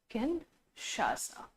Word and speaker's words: Kinshasa: This is Kinshasa. Pronunciation may vary, लेकिन अभी आपको किंशासा ही ध्यान रखना है ना, कोई और अलग भी प्रोनाउंस कर सकता है।